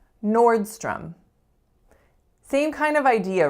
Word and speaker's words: Nordstrom: right as with Costco to letter owes up here in this word but they make totally different sounds from each other so our first sound is or or so that's a complex